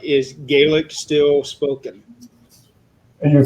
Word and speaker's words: Gaelic: Linda wants to know if I pronounce this right, is Gaelic still spoken? You pronounced it correctly, yes.